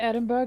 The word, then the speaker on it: Edinburgh: Actually, it's pronounced Edinburgh. Edinburgh. What do you mean I'm done?